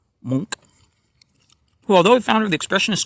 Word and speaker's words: Munch: painted by norwegian artist edward monk pronounced monk who although the founder